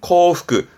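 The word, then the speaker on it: 幸福: 행복 발음은 코프크, 코프크.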